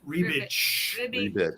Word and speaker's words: Rubik: Well, his name really is pronounced Rebitch.